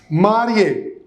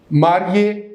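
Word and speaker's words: mariée: Marié. It is for the man. Married man. Marié. Here also marié. Married woman. Okay? With double E. But the pronunciation remains the same.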